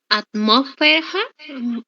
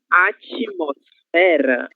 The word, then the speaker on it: atmosfera: Atmósfera. Atmósfera. Novamente, por favor. Atmósfera. ¿O cómo es, profesor? Atmosfera. Atmosfera. Atmósfera. Isso, atmosfera. Exatamente. De atmosfera, nós vamos ter atmosfera, ok? Sílaba tônica fé, certo?